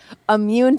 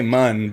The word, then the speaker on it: immune: and then they're like immune to what and I'm like no any mu u you even said it right immune other people say mun but yeah he's immune.